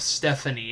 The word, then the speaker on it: Stefonknee: of Stephanie and no not Stephanie as in how would you you would normally pronounce its ste pH a and ie Stephanie as in ste Fon K and E so it looks like Stefan and then knee and oh my god